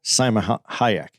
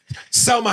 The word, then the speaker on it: Salma: So she's an obtainable Salma Hayek. You fucked that all up. You said Salma Hayek. I said it wrong. But like salmonella and kayak, nigga. Selma.